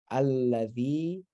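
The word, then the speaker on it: الَّذِي: But if you're starting the sentence anew, here there's a unspoken aleph that you can make an unspoken vowel that you start the sentence with. Alladhi, this is the da, and the ya lengthens it. Alladhi.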